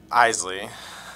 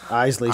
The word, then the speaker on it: Isley: Isley. Isley. So no silent letters there, Deej. It's I-S-L-E-Y. Like the Scottish whiskey, like the Isley, Isley Brothers.